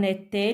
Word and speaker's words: était: Il, elle, en était, le T à la fin ne se prononce pas.